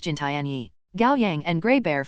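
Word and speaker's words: 金田一: In the Chinese rendition of the name, Kindaichi is pronounced Jintianyi.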